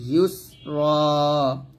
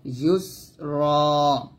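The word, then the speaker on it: يسرى: ইউস এরকম ফাসানু ইয়াসরুহুলিল ইউসরা ইউসরা এই র টা রা বলবেন না র মোটা করেন এখানে দুই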